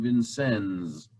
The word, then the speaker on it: Vincennes: a comment um yeah in southern indiana they pronounce the s in vincennes and it's not sure